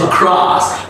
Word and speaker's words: across: And pronounce it like longer, like up in the air. Use your arm and say across. Don't say across.